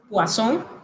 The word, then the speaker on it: poisson: significa en el restaurante, donde si usted pronuncia poisson, está pidiendo veneno, pero si pronuncia poisson, está pidiendo pescado.